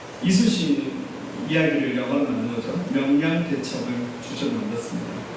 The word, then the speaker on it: 명량: 명량, 발음이 경상도 사람이 명량 잘 안 됩니다. 저는 극장 가기 전까지 명랑인 줄 알았어요. 가보니까 명량이더라고요. 깜짝 놀랐습니다. 제가 포스터를 보여드렸는데 보시면 그 명량 포스터 보면 그 이순신 이야기를 영화로 만든 거죠.